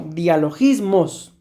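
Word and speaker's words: διαλογισμός: Y a esta palabra, mis amados hermanos, en griego se pronuncia más o menos así como dialogismos.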